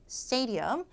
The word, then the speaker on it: stadium: 머물다 할 때처럼 stay 해보세요. stay. stadium.